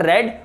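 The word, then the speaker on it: read: तो यहां पर रेड और इसको भी हम रेड पढ़ेंगे। तो रीड, रेड, रेड। Spelling same है बट जो उच्चारण है, जो प्रोनंसिएशन है, वो डिफरेंट है, ठीक है।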